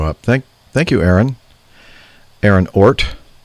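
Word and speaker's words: Ohrt: Aaron Ort. I would imagine that's the way you pronounce O-H-R-T. Ort.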